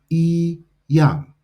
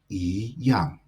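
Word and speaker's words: 一样: Now, if you were to look this up in the dictionary, it would have the pronunciation I yang.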